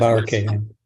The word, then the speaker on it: Bayer-Cahan: the representative, Rebecca. Bayer-Cahan. Pronounce her last name. Yes, Bayer-Cahan. Yes, thank you.